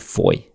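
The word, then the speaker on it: Fowey: I've been to Foy. So Foy is um spelled F O W E Y if anyone wants to Google it. It's not spelled as it's pronounced. Foy is a very popular harbor town.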